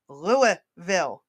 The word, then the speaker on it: Louisville: I just wanted to point out Oh, there's Lexington, Kentucky, and there's Louisville, Kentucky. You mean Louisville? It is Luville. The S is silent. Louisville.